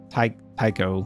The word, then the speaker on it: Taiko: You know, I believe that Taco-san said, I keep saying taco, like it's like taco. I'm saying like that you would eat a taco, but it's Taiko, I think's how you say it.